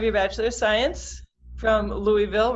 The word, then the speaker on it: Louisville: But you have your Bachelor of Science from Louisville, right? I said it right? Yes, Louisville.